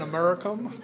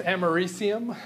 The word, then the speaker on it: americium: I think the pronunciation is a little bit different than Americum, but I think it's americium is how we're politically supposed to say that.